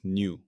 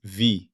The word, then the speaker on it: nu: Its canonical symbol is the Greek letter nu, pronounced nu. I have mistakenly pronounced this as V in the past. This was an error.